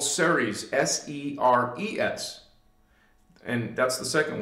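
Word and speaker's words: Cerez: We're going to be talking about the Ceres, but this is, it's been kind of like the 10th dimension, but and it's spelled C-E-R-E-Z, Ceres.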